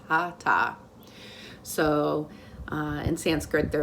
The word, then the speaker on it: hatha: spirit so hata yoga it looks like hatha h-a-t-h-a but it's pronounced hata so uh in sanskrit